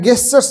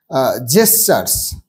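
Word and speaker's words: gesture: with human like জেসার এটা গেস্টার্স নয় কিন্তু মানে জি এর উচ্চারণ এখানে জেসার বর্গী উচ্চারণ তার মানে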